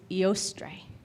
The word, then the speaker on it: Eostre: Another way to say her name is Eostre, kind of like the word Easter.